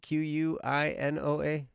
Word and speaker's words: quinoa: Yeah, quinoa. Quinoa. That's right. The U is silent like like a lot of times.